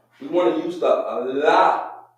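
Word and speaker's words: לא: La, la.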